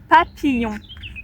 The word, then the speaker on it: papillon: Quand vous n'arrivez pas à prononcer, coupez le mot selon les syllabes. Pa et après là, ça devient compliqué. Y le son yeux comme les yeux. papillon yon papillon voilà papillon et il y a